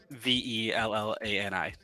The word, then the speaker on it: Vellani: Bellani, I believe is how it's pronounced. Bellani. Okay, Iman Bellani. She is perfectly casted. I love her as Kamala Khan. Vellani.